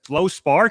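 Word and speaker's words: fluorspar: me I was like how do you even pronounce that? It's Flow Spar.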